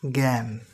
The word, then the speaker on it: জ্ঞান: জ্ঞ যেমন আমরা বলি জ্ঞান জ্ঞান এখানে বর্গের জহের কোন উচ্চারণ নেই।